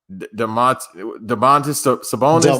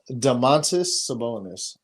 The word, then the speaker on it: Domantas Sabonis: Jaylen Brown, Paul George, Giannis, Domantas Sabonis. That's how you say it. Domantas Sabonis.